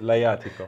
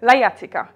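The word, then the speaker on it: Lajatico: So now I help you with Laiatico. Laiatico.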